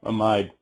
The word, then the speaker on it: amide: a long one pido ethanol amide or amid depending on how you say it but pea is